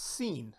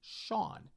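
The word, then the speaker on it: Sean: went to school with his name was spelled s a an I kept saying that's scene never heard that name before that's weird weird lo and behold his name is pronounced Shawn which made no sense to me then and still makes no sense to me that how S A an is Shan but his name and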